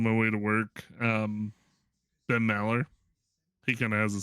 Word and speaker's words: Maller: Ben Mallard? Ben Maller. Maller.